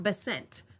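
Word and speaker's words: Bessent: However, she has been pinging around with Scott Basent.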